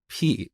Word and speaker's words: pi: We pronounce it as p, and I think Greek people also say p.